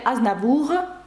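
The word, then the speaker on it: Aznavour: Ось так Шарль Азнавур ви вже бачите тут багато правил звук ш Шарль ви бачите що с пишеться але не вимовляється і ви бачите азнавуг р наприкінці яке вимовляється це та приголосна яка вимовляє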